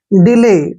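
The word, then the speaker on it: delay: एक वर्ड और देखिए डी ई एल ए वाई अब यहां पर डी का उच्चारण क्या करते हैं ड और ई को हम ई की मात्रा ही पढ़ेंगे एल को ल पढ़ेंगे और ए वाई को हमने क्या पढ़ना है ए की मात्रा डिले डिले क्या होता है दो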